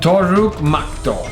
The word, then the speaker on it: Toruk Makto: This was How do really you pronounce awesome. it? Toruk Makto.